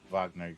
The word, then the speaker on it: Wagner: Wagner Group, yeah. Even though it's spelled with a W, but you know, Russia.